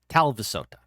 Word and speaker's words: Talvisota: And our song Talvisota is a tribute to... So I kind of said it right. Talvisota. That's the proper pronunciation.